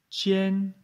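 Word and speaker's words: 千: 1000, chien, premier ton.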